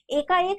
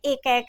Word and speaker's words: एकैक: उच्चारण पर भी आप लोग ध्यान रखेंगे, एकाएक नहीं पढ़ लेंगे, ये क्या है, एकैक है।